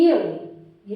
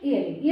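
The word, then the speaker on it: eerie: ईयरी, ये इरी नहीं है प्रोनाउंसिएशन, ईयरी।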